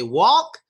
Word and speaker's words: walk: the first word because when they try to say walk, they say walk, walk, walk. And there's two reasons why that sounds very strange to the American ear. One is because on that A sound, they don't open their mouths that much. So they say walk, walk, walk. And that's not good. Secondly, when they make the L sound in this word, they don't stress it enough.